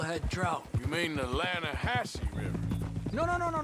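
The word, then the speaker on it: Lannahechee: the other day I rode down to the lahti river I caught some beautiful steel head trout you mean the lahash river no no no no no no the the lah hatche it runs right near here yeah but it's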